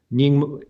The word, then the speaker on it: Nyingma: Dzogchen master Padmasambhava, who is associated with the Nyingma tradition, if I'm pronouncing that correctly. Yes, so, absolutely. You did correct. Okay. So in the 8th century, the great master Padmasambhava, who's primarily in the Nyingma tradition, but also there's a connection in the